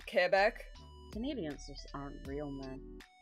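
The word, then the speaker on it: Québec: The deity can also pronounce Quebec properly, not Quebec. That's how most people say it though. It's just Quebec. Yeah. But technically it's Kebeck.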